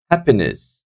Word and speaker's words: happiness: the first syllable guys happiness I'm not saying happiness or happiness I'm happiness so the first syllable is having the stress on it afid afid afraid second